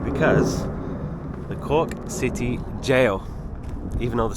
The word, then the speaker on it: Gaol: have made it welcome to the Cork City gal I saw it online it looked really cool let's check it out I was definitely wrong because the Cork City Jail even though the spelling is g a o